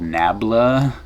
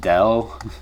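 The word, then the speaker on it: ∇: how this is pronounced sometimes this symbol on its own the upside down triangle is called nabla sometimes it's called Dell but this collection of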